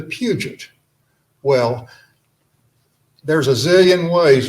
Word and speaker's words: Puget: came over to america they changed their pronunciation from peugeot to puget well there's a zillion